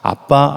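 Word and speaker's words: אבא: 기록한 이유가 무엇일까 이 아빠 라는 단어는 유대인들이 아빠를 가장 친근하게 부를 때 쓰는 아람어 입니다 어 그 단어가 아빠 라는 단어입니다 발음이 거의 저희 나라가 아빠라고 부른 것과 비슷합니다 그리고 이 아버지라는 단어는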